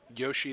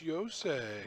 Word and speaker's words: Yosei: Like Yoshi the Morningstar? No, it's Yosei. You should have said, that's what you say.